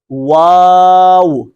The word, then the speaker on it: واو: کس طرح ادا ہوگی، دونوں ہونٹوں کو صرف گول کرنا ہے، واو۔ شروع میں بھی ہونٹ گول کریں گے، آخر میں بھی، اس لیے کہ اس کا تلفظ ایسے ہے، واو۔ اس میں اوپر والے دانت نچلے ہونٹ کے ساتھ نہیں لگنے چاہیے۔ لیکن جو اگلا حرف